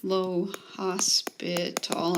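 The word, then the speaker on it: L'Hôpital: over infinity it's called l'hopital's rule low hospital it's french it's spelled like hospital and different classes teach that in calculus 1 versus calculus 2.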